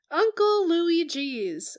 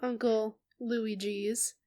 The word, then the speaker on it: Louie G.'s: The spelling indicates Louis space G. And that's the way that I say it because I'm going to go with the grammatically precise choice.